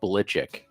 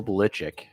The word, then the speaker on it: Belichick: is his last name is supposed to be pronounced ballichik no it is not yeah he's supposed to be Bill Belichick then again that seems like something that he